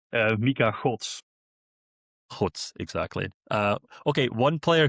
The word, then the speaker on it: Mika Godts: So just one more time, Kevin, how should we be pronouncing his name? Mika Godts.